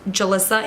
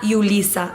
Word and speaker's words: Julissa: So my name is Julissa, pronounced Julissa. In Spanish it's pronounced Julissa, not Julissa. A lot of people call me that, Julissa, and it's a J.